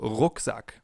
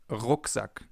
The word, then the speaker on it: Rucksack: This sound is different than in English. In English it would be R. In German it's R. We form it more in the back of our mouths. For example, Rucksack, backpack, Rucksack.